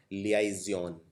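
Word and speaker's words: liaison: इसको प्रोनाउंस करते हैं लियाजियन।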